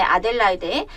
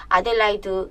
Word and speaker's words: Adélaïde: 2번과 1번을 먼저 하고 중간에 아델라이데 아델라이드 아델라이데 차이 아시겠죠 아까처럼 그런 발음 차이지만 나라에 따라서 어 그 콘체르토가 그